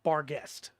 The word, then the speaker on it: Barghest: to be pronounced differently the official pronunciation for this monster in the uh book is bar guest yeah but uh so